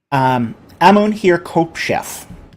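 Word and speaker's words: Amun-her-khepeshef: Amun-Hir-Kopshef. Amun-Hir-Kopshef. Yeah, I always feel like I'm not the best at pronunciation when it comes to Egypt.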